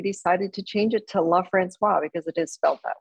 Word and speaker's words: LaFrancois: several years we decided to change it to love francois because it is felt that way and it really is should be pronounced that way so that's we i kind